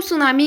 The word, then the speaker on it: tsunami: chapter two द सुनामी इसमें जो सुनामी में जो टी होता है वह साइलेंट होता है यह है बिफोर यू